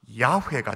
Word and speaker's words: 야훼: 오늘 본문이 딱 그러니까 설명하면, 여호와라는 말을 좀 더 정확하게 발음하면 원어적인 표현으로 발음하면 뭐가 될까? 여호와가 야훼가 되어지. 야훼. 타 교단에서는 여호와, 한글도 여호와라고 쓰고는 이걸 읽기를 야훼라고 읽어요. 그게 틀린 것은 아니에요.